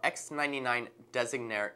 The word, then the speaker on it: Designare: for you with our X99-Designare EX. That's right, it's not a typo and I didn't mispronounce it. It's actually from an Italian root, which means designer.